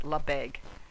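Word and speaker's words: Lebesgue: I wrote here how to pronounce it, Lebeque.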